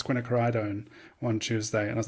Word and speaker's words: quinacridone: It was funny in the beginning of recording the class, I was saying quinasidone, and then Terry, it was like it's quinacridone one Tuesday, and I was like, whoops, I've already recorded videos where I'm just mispronouncing it.